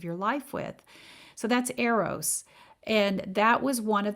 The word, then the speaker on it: eros: of love and the first one is e-r-o-s and that's pronounced eros and eros means a